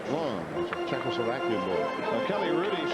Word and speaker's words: Lang: isn't he calling him Lang his name is long it is spelled l-a-n-g but pronounced long Czechoslovakian boy now Kelly